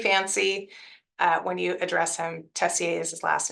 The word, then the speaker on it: Tessier: It is French, so you can say Tessier.